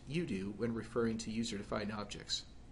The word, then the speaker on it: UDO: one as user-defined objects which I'll pronounced using the acronym you do pronounced you do when referring to user-defined